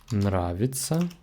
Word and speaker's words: нравится: Note that these endings are all pronounced like ца. I will write it here, but all of them are pronounced the same ца.